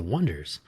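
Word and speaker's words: Oneders: So he finds The Wonders and they spell their band name o n e d e r s, The Wonders.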